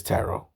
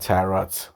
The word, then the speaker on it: taro: Yep, it is tarot. T A R O, not tarot. T A R O T. Tarot.